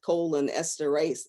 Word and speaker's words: cholinesterase: of bulky word so this kind of helps us to pronounce it colon esterase inhibitors so we know that